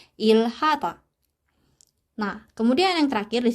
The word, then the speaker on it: 일하다: Bacim real ketemu dengan huruf konsonan hit. Jadinya kita bacanya itu ditekan. Si L-nya itu ditekan. Si realnya ini ditekan. Jadinya ilhata.